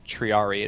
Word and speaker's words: triarii: uh dialect with no the correct pronunciation in Latin of triari is triari I always thought it